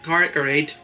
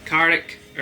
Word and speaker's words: Carrick-a-Rede: How is this place pronounced? Carrick-a-rede. Say it slowly, sorry. Carrick-a-rede. Carrick-a-rede.